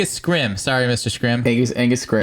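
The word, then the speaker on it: Scrimm: I think you said his name was Angus Scrimshaw. That's it. Yeah, I know I butchered it. Angus Scrim.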